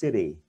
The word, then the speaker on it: city: Đó là tiếng Anh nó đọc bình thường kiểu người Anh, còn Mỹ thì đọc là city. City, nó không phải city giống như là mình gọi là chữ D của mình đâu, nó nhẹ hơn, nó lật một chút xíu thôi, city, đọc kiểu lười các bạn đó.